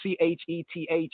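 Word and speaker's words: Cheth: So here the C-H-E-T-H is chet, chet, chet.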